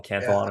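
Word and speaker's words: Cantillon: the canelon effect um I've heard it pronounced many different different ways I call it the canelon effect was it French the guy can yeah yeah yeah so maybe I need to throw an accent on there but um yeah so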